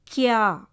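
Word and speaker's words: क्या: Half கா வந்தால் எப்படி படிக்கணும்? அடுத்த எழுத்தோட சேர்த்து படிக்கணும். கியா.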